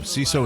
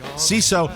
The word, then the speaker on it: Seeso: CISO is comedy for comedy nerds by comedy nerds. CISO, it's spelled SEESO.